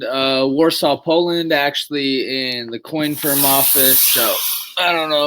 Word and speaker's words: Coinfirm: He is the founder and CMO of a company called Coinfirm. I think I'm pronouncing that right.